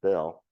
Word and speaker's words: Beal: Bell, it's spelled Beal, but it was evidently pronounced Bell, purchased two large farms in the vicinity.